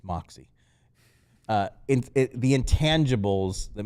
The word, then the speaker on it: Maxi: just like just take Maxi's minutes it's not that easy right like again he's the worst Defender still because of because of all those intangibles and I said it wrong it's Moxy uh in the intangibles